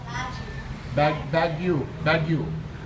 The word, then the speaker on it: Baguio: Baguio.